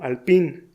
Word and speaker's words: Alpine: marca francesa conocida como Alpine. Ese nombre se parece al término en inglés Alpine. Sin embargo, como el origen de esa marca es francés, debes tratar de acercarte a la pronunciación original.